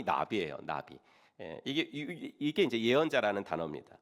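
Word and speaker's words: נביא: 성경에서 예언자라고 할 때 쓰는 단어가 히브리어로 나비라는 단어거든요. 나비, 날아다니는 나비 말고요. 그 히브리어로 저렇게 쓰는데 발음이 나비예요.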